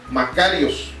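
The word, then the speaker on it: μακάριος: escribe de esta manera macarios con k y con acento en la a macarios el significado es supremamente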